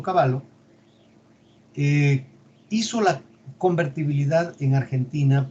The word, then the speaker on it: Cavallo: por eso su apellido, y no era porque era un caballo, sino que así se pronuncia en italiano, Domingo Cavallo, hizo la convertibilidad en